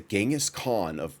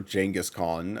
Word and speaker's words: Genghis Khan: I'll just try to remember Genghis Khan, which should be easy. It's like, just pronouncing it with a J, which I have a preference also, for.